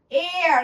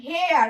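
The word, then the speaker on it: heir: এয়ার আমরা কিন্তু বলি না হেয়ার, আমরা এই সাউন্ড এইচ কিন্তু উচ্চারণ করছি না।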